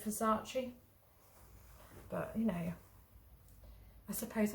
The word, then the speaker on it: Versace: half pronounce things weird i heard somebody say versace the other day instead of versace but you know i